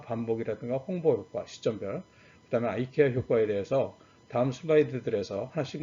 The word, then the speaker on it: IKEA: 그래서 이제 요거 세 개하고 마지막으로 이제 말씀드릴 게 뭐냐면, 아까 188개의 그런 편향 중에서 아이케아, 우리나라 사람들이 이케아라고 이제 발음을 하는데, 이케아 효과라는 게 있습니다.